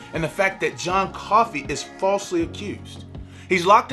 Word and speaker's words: Coffey: John kept saying, "Your name is John Coffey." "Yes, sir, boss. Like to drink, only not spelled the same."